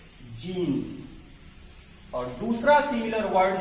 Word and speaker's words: genus: पहला similar word आपका है जीन्स और दूसरा सिमिलर वर्ड जो हम आपको बताने जा रहे हैं वो भी है GENUS। GENUS। यहां पे आप जीन्स कहते हैं और यहां पे आप जीनस कहते हैं।